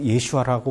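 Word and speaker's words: ישוע: 모른다라고 제가 느꼈던게 메시아닉주들은 예수님을 예수님이라고 부르지 않고 예슈아라고 부른다 그래서 이단이다 이런 얘기를 하시더라고요 저는 예수아라는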